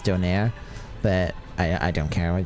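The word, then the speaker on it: döner: Well, my family says doner, but I'm pretty sure it's supposed to be pronounced doner, but I don't care.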